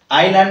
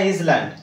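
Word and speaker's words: island: ঘটেনি জানিলে যথেষ্ট ওকে আই ল্যান্ড না ইজ ল্যান্ড আইল্যান্ড আইল্যান্ড আইল্যান্ড okay not ইজ ল্যান্ড এথিরে S silent রুহে okay so এতে ছিলা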